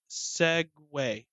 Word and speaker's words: segue: It's not spelled the same. It's not Segway like that. Okay. Is that how you pronounce it? Segway. Yes. Are you how sure? You pronounce it. Yes, I'm looking at the pronunciation on Google.